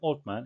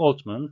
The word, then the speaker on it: Altman: OpenAI 공동 창업자인 올트먼과 브록만, 이 두 사람의 이름은 세 개의 자음이 겹쳐져서 발음상 세 자음의 법칙이 적용될 상황이 생겼는데요. 그래서 올트먼이라고 하기보다는 올트먼, 그리고 브록먼이라고 안 하고 브록먼이라고 이렇게 발음이 돼서 청취에 좀 어려움을 더해주고 있습니다. dismissed Sam Altman for a lack of candor.